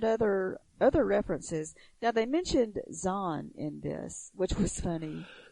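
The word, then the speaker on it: Xon: And the spelling of it is X-O-N, and it's pronounced Zahn.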